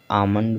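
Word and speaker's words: almond: तो सभी वर्ड में क्या है कि यम से पहले यल आया हुआ है और यल का उच्चारण नहीं हो रहा है।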